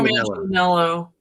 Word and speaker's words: Manganiello: type is Lorry, forgive me, I'm going to mispronounce his name, Joe Manganiello? Joe Manganiello.